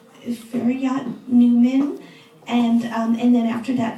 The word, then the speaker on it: Feryat: My name is Feryat. Feryat. It's 2 syllable. Feryat. That's just I in the middle. And you are so close because usually people think my name is Harriet.